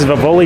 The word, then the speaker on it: Vivoli: So I did say it wrong before. It's Vivoli Gelato, and I actually learned something today.